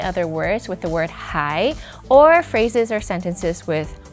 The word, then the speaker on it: 还: So in today's character mind map, we talked about many different words that come together with the character for hai or huán.